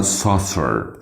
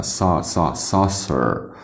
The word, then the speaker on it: saucer: طيب عندنا كده saucer saucer saucer بقى بالامريكان فتحنا saucer saucer بالبريتش صوصة صوصة صوصة ضمينا وما نطقناش الار في الاخر. لكن بالامريكان قلنا saucer saucer لكن يبقى فتحنا ونطقنا صوت الار بالامريكان. لكن في البريطاني ضمينا وما نطقناش الار صوصة.